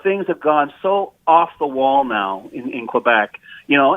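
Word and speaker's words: Noé: is I'll I'll cut you some slack, but Noah, N O A H, as opposed to N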